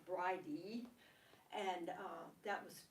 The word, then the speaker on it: Bride: Her name is Breed, and or in some places in Ireland, Bride, B-R-I-D-E, but I think that's pronounced Bridie, and that was 2 of her names.